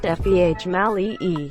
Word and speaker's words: Female: Female, pronounced Feh Mali-E.